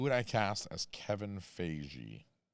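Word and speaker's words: Feige: saying something that's not Fagy. So, I say fagy. But it sounds like beige, right? Is it just Kevin Fige? It rhymes with beige.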